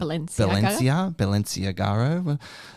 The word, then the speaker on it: Balenciaga: How do you pronounce it? Balenciaga.